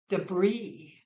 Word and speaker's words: debris: Debris, debris.